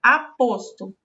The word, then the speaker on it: aposto: com repetir essa palavra a posto a anna também é poço aposte sua pronúncia certa é o o fechado aposto em não aposto que